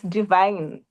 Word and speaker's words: Divine: It's Divine. It's the normal Divine, which is usually spelled as Divine.